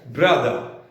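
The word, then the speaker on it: brother: अब देखिए र का उच्चारण आ जाएगा ब्रदर, लेकिन ये लास्ट वाला आर नहीं आएगा, ब्रदर।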